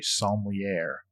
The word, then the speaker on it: sommelier: Yeah, because when he was between companies, he had a non-compete clause, and so he became a sommelier. Is that how you say that word? Sommelier. Sommelier, sorry. I pronounced it in Texan.